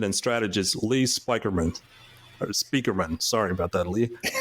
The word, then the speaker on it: Spieckerman: but it is, uh, it is pronounced like, uh, Speakerman, even though it's not, uh, spelled the way people usually expect to be spelled.